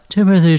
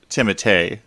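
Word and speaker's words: Timothée: pronouncing his last name but i believe it is timothee not timothy wait really to me he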